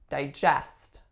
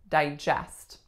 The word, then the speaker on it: digest: works of stories etc as a verb we would say digest digest as in you need